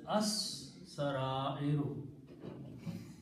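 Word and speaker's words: السرائر: And in the recitation, sin being a shamsi letter kills the sound of lam. So it is pronounced as as-sara-iru.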